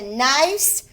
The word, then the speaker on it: nice: You will make a nice snack. Yum, yum." I see the word nice has a soft C sound. S makes the S sound. Nice. The C makes an S sound.